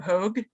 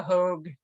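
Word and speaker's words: Hogg: of the name so um it's apparently the hogue was the way it's pronounced although that might have changed over time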